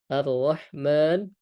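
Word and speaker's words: الرَّحْمٰن: Maka keduanya menggunakan huruf ha arrahman arrahim. Maka kita ee harus ee menekankan lagi perbedaan antara huruf ha dengan ha kecil dengan ha besar.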